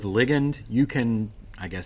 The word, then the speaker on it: ligand: Now this word is pronounced, I've heard several different pronunciations, ligand, ligand. I'm going to go with ligand.